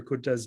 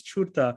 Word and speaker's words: Curta: I thought it was Curta, and he corrected me because I thought, C is cha or tsa, but it's not, and so fascinating, linguistic, lesson here.